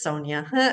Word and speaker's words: Sonya: I was gonna say, Warren, you were so close, but it's Sonia.